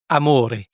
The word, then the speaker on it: Amore: On dit amore et non amor. C'est de l'italien et c'est masculin. Et dans cette langue, le e se prononce et.